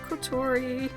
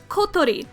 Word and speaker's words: Kotori: I can say the name properly. Kotori. Listen to me. Kotori. Kotori. I can say it. But it's not very pleasant or easy to say in casual English conversation the way the syllables are structured. It's either in casual English speech I can either say Kotori, which I usually say, or Kotori, which is I guess kind of closer, but it really doesn't sound right in English.